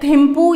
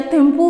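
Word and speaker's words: Thimphu: Next अगर हम बात करते हैं भूटान की, तो भूटान का कैपिटल है थिम्पू या थिम्पू भी बोला जा सकता है इसे, और इसकी करेंसी भी भूटानीज गल्ट्रम है।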